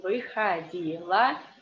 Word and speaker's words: Выходила: This word we already discussed because the stress is on и, and the о is in unstressed position. Выходила.